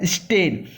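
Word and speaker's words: stern: है, लिखा हुआ है स्टेन। आर यहाँ पर साइलेंट होगा।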